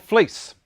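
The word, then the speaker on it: Vlies: on it is around here somewhere it's called fleece and it's spelt v-l-i-e-s the lies is how it's you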